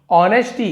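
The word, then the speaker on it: honesty: नाम है कि नहीं ऑनेस्टी ए साइलेंट रहते इससे नेस्टी नहीं पढ़ेंगे ऑनेस्टी पढ़ते हैं इसके बारे में आगे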